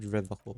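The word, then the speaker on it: Revachol: You're a true patriot, and you know how it's said. The Seren way. The fine way. With an elegant s.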